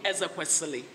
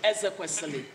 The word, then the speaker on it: Ezekwesili: When you next call me Ezekwesili. Say it, Ezekwesili. Too difficult. The next challenge is to have a good pronunciation for Yu Hua.